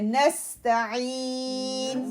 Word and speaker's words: نستعين: اب یہ نہ ہو نستعین، نو نس فوراً سے فتح کو نون سے ملا، سین سے ملانا ہے، نستعین.